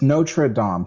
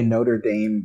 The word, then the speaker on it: Notre Dame: It's Notre Dame. People say Notre Dame, but that's not the way you pronounce the Paris church.